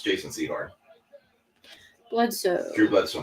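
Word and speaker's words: Sehorn: Yeah, it's Jason Seahhorn.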